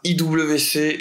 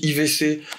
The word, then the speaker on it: IWC: de cette collection la IWC la chrono big pilot édition désert morav moi j'avais je ne sais pas comment on dit désolé pour la prononciation on dit pas i WC on dit IVC c'est bon c'est la